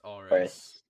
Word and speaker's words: Auris: It's Auris. Auris. It's basically Boris, but without the B.